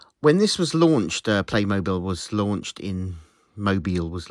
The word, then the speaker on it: Playmobil: side of the box it tells me that I should pronounce it Playmobil um It's Tricky that one I suppose I really should call it what the company would like me to call it but I just say mobile because when I say when